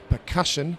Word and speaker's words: percussion: stressed on certain syllables like the word percussion the emphasis is on the middle syllable and then once they